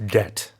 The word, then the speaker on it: debt: There's a B in there. Don't forget to pronounce that. That B is silent, so it's just debt, right?